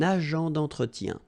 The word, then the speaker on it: agent d'entretien: Liaison here. Un agent d'entretien.